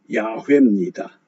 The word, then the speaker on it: 야훼: 가지로 이해할 수 있습니다 원래 엄밀하게 발음하면 야훼입니다 야외 그러면 모세에게 나타나신 모세에게